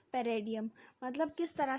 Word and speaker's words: paradigm: theoretical रो पैराडाइम पैराडाइम ये पैराडाइम भी पढ़ सकते इट इ प्रोनाउंस एस पेडियन पेडियन ठीक है तो